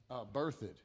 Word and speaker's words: Berthoud: Berthoud. Spell that for me.